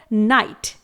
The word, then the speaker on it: knight: Next word है नाइट, KNIGHT। यहां पर भी GH साइलेंट रखा गया है, लेकिन इसी के साथ यहां पर आया हुआ K लेटर भी साइलेंट है, जिसके कुछ और नियम हैं।